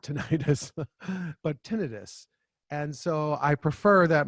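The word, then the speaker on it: tinnitus: peeves it's not tenius ttis would be an inflamed tin we use the term itis specifically to mean inflammation of uh also if somebody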